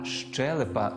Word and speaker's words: щелепа: слово щелепа зверніть увагу не челюсть а щелепа з наголосом на першому складі між іншим челюстями в